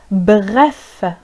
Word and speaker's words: bref: لكي نعبر عن كلمة باختصار باللغة الفرنسية يمكن أن نقول بغف. بغف. بغف.